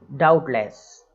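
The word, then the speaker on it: doubtless: है, बी आ रहा है, तो वो बी साइलेंट हो गया, सब टल, इस तरीके से बोलना, सटल, डायरेक्ट। और नेक्स्ट है डाउटलेस, मतलब निसंदेह, डाउटलेस मतलब, अब इसमें भी देखिए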